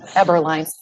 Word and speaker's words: Eberline: Is it Eberline, Mr. Eberline? Is that correct pronunciation? No, do you justice? Thank you. Yes, it's Eberline.